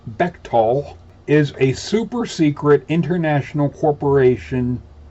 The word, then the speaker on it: Bechtel: stanford research institute the betchtel corporation etc fetchtel pronounced bechtol is a super-secret international corporation octopus founded in